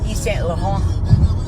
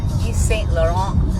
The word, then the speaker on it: Yves Saint Laurent: So right now I have Yves Saint Laurent. That's how you say it. Yves Saint Laurent under eye concealer, and it's called All Hours Concealer.